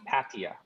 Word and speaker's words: Pattaya: It's a soft A at the beginning.